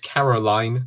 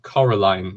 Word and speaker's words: Coraline: my companion this is Coraline from Coraline not Caroline Coraline this was the first